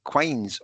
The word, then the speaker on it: quines: Now, how do you pronounce this second word? Loons and is it quines or kines? Quines. Loons and quines.